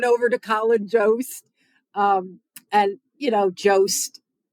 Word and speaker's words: Jost: And, Jost, there's a reason why his last name rhymes with roast.